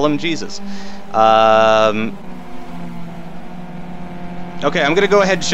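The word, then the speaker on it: Jesús: the top 10 yes I know it's pronounced hey Zeus but that's no fun let's call them Jesus okay I'm gonna go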